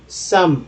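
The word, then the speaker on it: some: गे हो गया गेव ई का उच्चारण कहीं भी रहता तो वो साइलेंट हो जाता है जैसे य गेव कोई उच्चारण नहीं है सम में ई जो है वो कोई उचार नहीं है ठीक है तो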